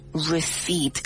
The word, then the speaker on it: receipt: And let me spell it for you. It is R-E-C-E-I-P-T. But the sound, well, the P does not make a sound. It's a silent P. So you don't pronounce it. You say receipt.